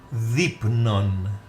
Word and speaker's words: δεῖπνον: Το δεῖπνον. Again, in the word δεῖπνον, I want you to notice the second and the third letters. Epsilon iota are combined together into one sound. E.